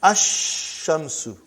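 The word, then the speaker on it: الشَّمْسُ: And then ash-shamsu. No al, no lam. When I say, I shouldn't say al. I should say no lam.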